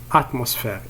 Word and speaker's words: atmosphère: La première syllabe c'est at, la deuxième syllabe mos, troisième syllabe faire, atmos, faire, atmosphère, atmosphère.